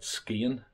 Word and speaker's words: Skagen: So today we're going to a town called Skagen, or as the locals pronounce it, Skien.